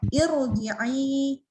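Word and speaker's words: ارْجِعِي: Arji'i Maaf, ila. afwan. Nah, potong dari awal, afwan. Ini bukan arji'i, itu tanda hamzah wasol. Jadi ada kepala sot ya. Bacanya ir ya. Irji'i ya tipis dari i.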